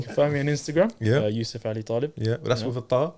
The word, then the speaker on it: Yusuf Ali-Taleb: So Yusuf Ali-Taleb on Instagram. Bro, say it properly. Yusuf Ali-Taleb. Why'd you do that for? Why do our people do that? Don't anglify your name, blood.